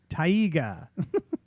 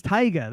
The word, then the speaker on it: taiga: Ben Tiger Tiger Tiger I know Tiger its taiga that's how they keep saying it taiga so I guess I